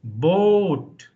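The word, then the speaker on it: Boot: pronouncing tone O So b o t should be boat just like English b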